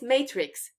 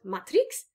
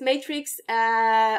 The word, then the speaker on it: matrix: style of matrix yeah did you notice the pronunciation it's matrix not matrix matrix so it's matrix also the maths term for matriza that's matrix